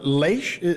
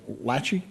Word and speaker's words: Laish: So again, Trooper First Class Tyler Laish, or Lachey, but Laish is how he pronounces.